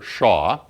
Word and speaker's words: Shah: So I want to use the notation here, let me write it down and then I'll pronounce it for you. This is called the Shah function or Shah distribution, really, of spacing p.